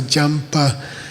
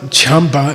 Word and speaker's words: Jampa: There's an a prefix letter. Hay un prefijo, una letra A de prefijo. So it's not champa, it's jampa.